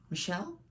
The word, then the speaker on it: Michel: It's from Michael Foucault. Michelle? I'm sorry for getting your first name wrong multiple times.